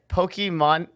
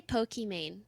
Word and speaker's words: Pokimane: gotta get this right pokemons me how do you say your actual gamer name okay like you can say pokey main that's fine pokey man say Pokemon and that's fine too okay Pokemon is like